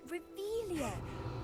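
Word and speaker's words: Revelio: Where are you, Relius? I'm saying it wrong. Reveilia, much better.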